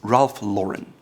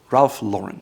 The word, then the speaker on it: Ralph Lauren: The company says the proper way to pronounce it is Ralph Lauren, like the name Lauren. Ralph Lauren.